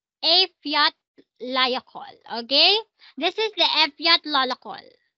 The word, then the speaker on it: Eyjafjallajökull: F Eyjafjallajökull.